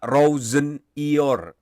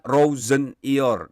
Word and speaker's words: Rosenior: Penyebutan nama dari pelatih baru Chelsea ini adalah Rossonier. Jadi itu konfirmasi langsung dari yang bersangkutan ya. Ayah saya mengucapkan Rossonier dan itu adalah pelafalan